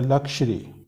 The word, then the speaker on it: luxury: एक वर्ड ये होता है LUXURY, इसका प्रोनाउंसिएशन होता है लक्शरी, लक्शरी, लेकिन इसका प्रोनाउंसिएशन होता है लग्जूरियस।